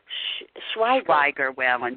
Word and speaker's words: Schweiger-Whalen: and, would you tell me, it's Schweiger-Whalen.